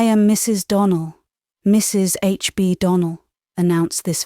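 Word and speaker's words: Donnell: Clarice Almyra told me that you pronounced our name Donald. Now, Miss Shirley, the correct pronunciation of our name is Donald, accent on the last syllable.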